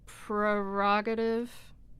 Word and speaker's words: prerogative: Prerogative becomes prerogative, right? Because you're deleting.